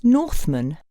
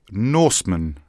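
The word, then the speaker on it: Norsman: your second name did you say it was Northman no Norman and it's spelled n o r s m a n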